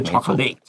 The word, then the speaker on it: chocolate: You already know this rule because 巧克力怎么说？chocolate 不是 chocolate。没错。